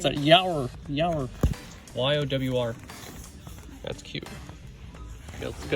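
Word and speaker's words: Yowr: How do you pronounce that? Yower.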